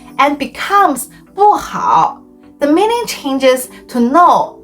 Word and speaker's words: 不: On the other hand, when 不 is followed by a syllable in the fourth tone, it changes into the second tone.